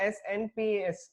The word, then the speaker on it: SNPs: Okay, see, ये याद रखना है तुम लोगों को, SNPS, okay, which is a single nucleotide polymorphism.